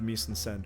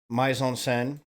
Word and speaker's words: mise-en-scène: Is the overall design of the mise-en-scène realistic or expressive?